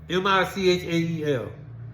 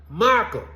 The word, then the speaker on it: Michael: boys mispronouncing your name now my name is Michael m i c h a e l Michael these boys was pronouncing my name m what where the hell is I'm at Michael is not hard to pronounce Michel get off that sidewalk